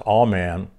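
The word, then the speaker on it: aman: which is a-m-a-n and it's pronounced all man and it means to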